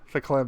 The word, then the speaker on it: verklempt: Spelt with a V, but according to Google, pronounced with an F. Verklempt.